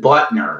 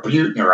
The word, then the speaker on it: Buettner: things I read but Dan Butner or Buettner I think is the way he pronounces his name he's the one for